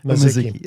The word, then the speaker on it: Mizuki: How do you pronounce it? Mizuki. Oh, there. I was pretty close.